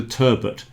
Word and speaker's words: turbot: I call it a turbot. So, I pronounce the T on that one.